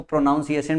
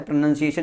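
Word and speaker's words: pronunciation: बट अगर सही से अगर पढ़ना है तो प्रोनंसिएशन इसे पढ़ा जाता है। तो प्रोनाउन याद रख सकते हो क्या? प्रोनाउन में प्रो याद रखोगे और नाउन की spelling N ओ यू एन होता है। और यहां पे ध्यान से देखो प्रोनंसिएशन इसीलिए बोलते हैं। प्रोनाउंसिएशन नहीं बोलते। तो एन ओ यू एन नहीं होता है।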